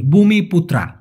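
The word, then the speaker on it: Bumiputra: মূলত ভাই এই ভূমিপুত্রা এটার মূলত উচ্চারণ হবে ভূমি বি ইউ এম আই পি ইউটি আর এ ভূমিপুত্রা এটার মানে হচ্ছে অরিজিনাল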